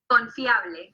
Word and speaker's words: Confiable: Confiable.